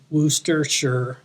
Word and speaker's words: Worcestershire: rooster but with a W instead of the r so Wooster and then sure as in I'm pretty sure this is how you're supposed to say it so Worcestershire booster sugar booster sure something like that uh so what Randy